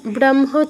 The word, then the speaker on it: ব্রহ্ম: হওয়া তো উচিত ছিল ব্রহ্ম, ব্রহ্ম, কারণ আগে হ আছে, তো আমার হটা আগে উচ্চারণ করা উচিত ছিল, মটা পরে। কিন্তু ওই যে নিয়মটা বললাম, ম একটা অনুনাসিক ধ্বনি, এটা হয়ের সাথে যুক্ত হয়েছে, তাই আমার মটা আগে উচ্চারণ করতে হবে, হটা পরে উচ্চারণ করতে হবে।